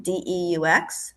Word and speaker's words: Deux: I'm pronouncing it wrong because I can't speak French, but it's Cafe Deux, like two, Deux, in Harrison.